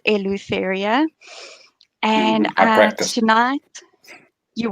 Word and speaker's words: Eleutheria: I know a lot of people don't know how to pronounce that, but they generally do get it right. Eleutheria. It's Eleutheria.